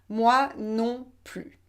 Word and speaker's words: moi non plus: moi non plus et on ne prononce pas le s final moi non plus je n'aime pas cuisiner